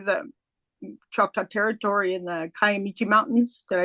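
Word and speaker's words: Kiamichi: You know, when I when I go to Oklahoma to the Chopa Territory in the Caamichi Mountains, did I say it right?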